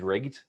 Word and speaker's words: RGD: then you get the initials RGD, which I can pronounce as rigged. So if you hear me talking about like rigged, that's my shortening of React, GraphQL, and Django.